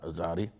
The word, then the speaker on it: Zari: Zari that um um it's actually pronounced Z Zari the attack on Zari